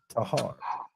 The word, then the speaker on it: Texar: Not too far from our shop is a road called it's spelled Texar, Tahar, but it is pronounced Tahar.